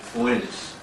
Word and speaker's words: Oannes: They had as a chief figure in their history Oannes. Oannes, and that's spelled O-A-N-N-E-S.